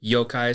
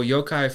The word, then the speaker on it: yokai: Yokai is spelled Y-O-K-A-I.